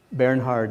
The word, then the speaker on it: Bernhard: Bernhard and Walter, if I'm pronouncing them in the German way.